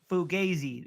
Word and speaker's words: fugazi: the Vikings are fugazi you kept saying it wrong it's fugazi which means fake they are